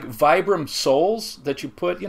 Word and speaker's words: Vibram: It's just like, it's like Vibram soles that you put, you know, so like the Vibram lug soles on work boots. Ugh, we just did a video on this. It's actually called Vibram.